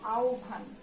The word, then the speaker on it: আহ্বান: প্রথমে একটা জিনিস আমি বলি, এটাকে আমরা আহ্বান বলি সব সময়, কিন্তু এটার উচ্চারণ কিন্তু আহ্বান।